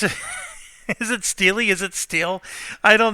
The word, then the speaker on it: Steely Dan: you know it was Steely Dan and for one guy and it's still with this girl then somebody just posted some Wikipedia thing that this is actually pronounced Steely and not steel even though the the